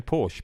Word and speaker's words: Porsche: America and the same Porsche Porsche is Porsche oh is that right is that the correct pronunciation German let's put [ __